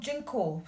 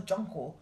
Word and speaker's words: Junko: is junko junko f but I've heard her being called jenko so I'm not but I when I did actually look up the pronunciation it was junko right so I'm just